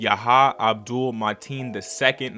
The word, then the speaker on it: Yahya Abdul-Mateen II: So that being said, of course, this movie stars Jake Gyllenhaal, Yahya Abdul-Mateen II, is I believe how you pronounce his name, who starred as Candyman.